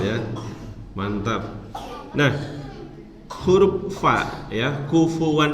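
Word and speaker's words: كُفُوًا: mantap Nah huruf vadya kufuwan itu bacanya jangan kuwan jangan bibir ketemu bibir UFO and salad tapi bibir bawah bagian dalam bertemu ujung gigi seri atas uh uh when dan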